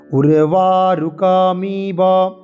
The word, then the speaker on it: উর্বারুকমিব: উর্বারুকম ইব, এই জায়গাটায় অনেকের কনফিউশন, অনেকের দ্বন্দ্ব থাকে। উর্বারুকম, উর্বারুকম ইব, উর্বারুকম ইব বন্ধনাৎ মৃত্যুহ আছে, তাহলে সেটা হচ্ছে কি বন্ধনান হচ্ছে। আমরা বলবো কি উর্বারুকমিব, উর্বারুকমিব বন্ধনান, বন্ধনান, তন্তন